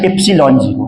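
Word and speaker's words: epsilon zero: मैंने अभी एप्सिलॉन नॉट का नाम लिया है, यहां पर ये होता क्या है, इसको पढ़ते हैं एप्सिलॉन जीरो, और इसका प्रोनाउंसिएशन एप्सिलॉन जीरो है।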